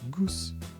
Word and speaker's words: Goes: It's actually even closer to Goes. Goose. I know in English it's pronounced goes, but in Dutch it's goose, I think. Or maybe goes. The G is quite brusque.